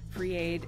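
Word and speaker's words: FR33AID: i started an organization called free aid it's spelled fr-33aid free aid is a volunteer first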